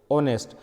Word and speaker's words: honest: have a word honest in the word honest H is silent so we pronounce this